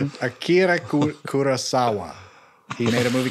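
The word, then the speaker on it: Akira Kurosawa: It's a remake of Akida Kurasawa's High and Low.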